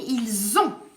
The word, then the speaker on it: ils ont: ce que vous entendez, on dit ils ont peur. Attention au z que vous entendez. Attention à ce z. Ce z, c'est la liaison.